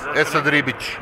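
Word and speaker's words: Esad Ribić: So your name is Esad Ribic, am I pronouncing that correct? Yes, Esad Ribic.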